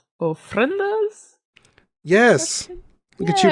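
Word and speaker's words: ofrendas: in life may have loved these are called friendas yes look at you pronouncing something correctly for once don't worry about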